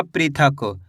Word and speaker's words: पृथक: चलिए देखिए प में ऋ की मात्रा प्री थ क तो मिलके बन जाएगा पृथक।